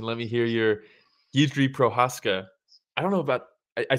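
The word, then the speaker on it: Procházka: Hey, that was good pronunciation. Let me hear your Jiri Prochazka. I don't know about, I spend more time trying to figure out how to say Jiri. I don't think you say Prochazka.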